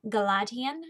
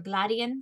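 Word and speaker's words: G'ladheon: Green Rider is a fantasy book about Kerrigan Galadian, or Gladian, depending on how you want to pronounce it.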